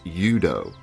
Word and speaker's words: UDO: And now the acronym is UDO, okay? And it's pronounced like the universal itself. It's UDO, okay?